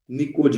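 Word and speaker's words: pnictogens: पर नाइट्रोजन family को एक और नाम से भी जानते हैं जो इस फैमिली के एलिमेंट होते हैं जिनको बोलते हैं निकोज। इसमें पी साइलेंट होता है।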